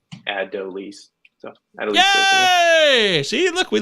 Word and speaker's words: Adolis: It does appear to be pronunciated Adolis.